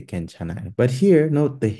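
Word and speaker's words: 괜찮아요: You can say kwenchanayo or kenchanayo. In modern Korean, most people just say kenchanayo.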